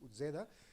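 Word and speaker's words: Uzeda: de la família Utzeda, perquè nosaltres aquí pronunciem equivocadament aquesta Z a la castellana, en canvi els italians la pronuncien com a ells els hi pertoca, que és Utzeda, és un cínic i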